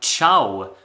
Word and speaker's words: Čau: that I will be talking about is called chiao by Anna and there is no way that I would ever be able to pronounce this title wrong because uh I heard